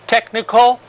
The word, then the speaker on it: technical: physical training technical with the CH but you pronounce only the cut sound technical and here psychological look at the spelling of